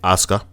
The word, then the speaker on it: Asuka: This is the one I've always been interested in because I am a very big fan of Kana, aka Asuka. The U is silent, and Bayley.